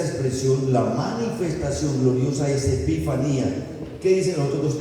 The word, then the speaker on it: epifanía: La primera es parusia y la segunda epifanía. No epifania, no. Epifania es un nombre. Epifanía, porque es una palabra en griego.